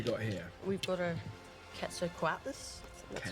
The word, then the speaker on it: Quetzalcoatlus: We've got a Quetzalcoatlus. That's how you pronounce it.